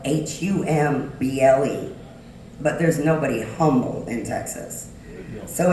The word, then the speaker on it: Humble: called humble it's spelled h-u-m-b-l-e but there's nobody humble in Texas so it's pronounced humble my family came here and 1734